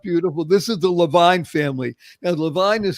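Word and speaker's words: Lavigne: This is the Levine family. Now, Levine is spelled L-A, actually capital L, small a, capital V-I-G-N-E.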